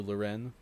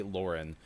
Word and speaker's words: Lauren: Lauren checks into the chat, and I'm so happy that Kiki clarified because I was also calling you Loren because I didn't know how to say it. So it's Jen J. Lauren, one of the best Apex players on the planet.